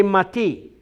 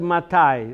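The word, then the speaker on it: מתי: is that not say mati? Why is that written matai? Why do you pronounce it matai? Let's see what you all remember from this class. Why is that word not mati?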